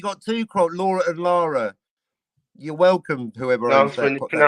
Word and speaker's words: Lara: You got two Croft, Laura and Lara. You're welcome, whoever owns that. I pronounce that Lara.